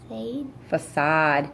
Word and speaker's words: facade: Yeah, this one is tricky because this is the soft C. Try it again. Facade.